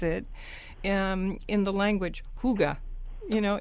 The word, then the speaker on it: hygge: spelled h y g g e but you pronounce it um in the language Huga you know h o o g h Huga